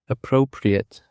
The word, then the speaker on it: appropriate: Now let's jump to the last word, which is appropriate. Appropriate. Appropriate consists of three syllables, and the stress is on the first syllable.